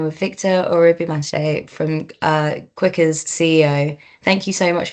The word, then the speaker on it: Kquika: little bit more about Quicker? Well so I mean we started Quicker in 2021. You know we pronounce Quicker as quicker.